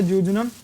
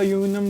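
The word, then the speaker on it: jejunum: Long cold middle portion कौन सा होता है, जूजनम बोलो, यूनम बोल दो, प्रोनाउंसिएशन पे डिपेंड करता है।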